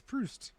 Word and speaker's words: Proust: spell it how do you how do you pronounce it you're a UST yeah yes it is proust his whole name is Valentine Louis George Eugene